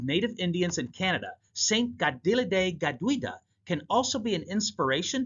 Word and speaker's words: Kateri Tekakwitha: And St. Gadel Gadwida did just that. I'm pronouncing her name in Mohawk, at least trying to get it right. The patron saint of native Indians in Canada, St. Gadil Gaduida can also be an